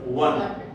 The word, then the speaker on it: one: अगर ओवन होता, ओ अन, तब हम जरूर एन लगाते हैं, लेकिन इसका उच्चारण ओवन नहीं है, इसका उच्चारण वन, इसीलिए हम यहाँ पे